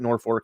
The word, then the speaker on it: Norfolk: Nebraska, not Norfolk, Virginia, spelled the same, but we pronounce it Norfolk here.